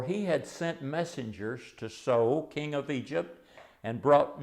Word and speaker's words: So: that dynasty was s-a-i-s and in hebrew it's pronounced so uh and so if